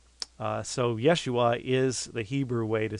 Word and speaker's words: Yeshua: yah joshua or Jeshua yeshua is how it's pronounced in hebrew fact there's ten Hebrew